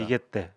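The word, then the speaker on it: 逃げて: 그러니까 일본 말로 읽으면 니게떼인데요. 교수님 맞죠? 예, 예, 맞습니다. 니게떼 이렇게 니게떼.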